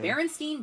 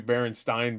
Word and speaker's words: Berenstain: But what do you say when you say Frankenstein? You say Frankenstein. So it should be Berenstain Bears, not Berenstain. It should be Berenstain, even though it's not spelled like Frankenstein.